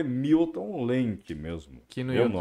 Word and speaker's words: Lemke: Meu canal é Milton Lenk mesmo. Que no meu YouTube nome, né? Escreve Lenk? Lenk se escreve L-E-L-E-M-K-E.